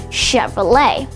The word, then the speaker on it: Chevrolet: You might be expecting it to be pronounced Chevrolet or Chevrolet, but it's actually pronounced Chevrolet.